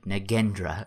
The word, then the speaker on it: Nagendra: Nagendra is how it's pronounced.